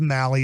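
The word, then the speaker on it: Mahle: just so you know it is Mali is the way you pronounce m ahle e I'm horrible with pronounce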